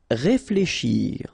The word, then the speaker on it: réfléchir: Réfléchir. Okay, remember when you combine this F and L together, you get the sound fl, fl. Okay, réflé, and then combination of C and H, sh, shir. Réfléchir, réfléchir.